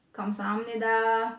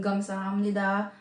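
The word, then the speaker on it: 감사합니다: Ibig sabihin, pwedeng ka, pwedeng ga. Pwedeng kamsahamnida, pwedeng gamsahamnida, okay lang yun.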